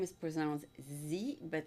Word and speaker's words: Sze: last name is present Z but it's written as Z right correct Z ok so it could have been just the letter Z exactly it's pronounced like the letter Z okay so Lisa is